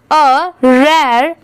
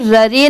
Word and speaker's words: rare: रेयर, RARE, यहाँ पर ररे नहीं पढ़ेंगे इसे, इसकी प्रोनाउंसिएशन क्या है, रेयर।